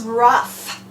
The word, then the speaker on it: rough: you here we go this word is rough that's a strange word with that gh making an F sound at the end kind of like in laughs but anyway in rough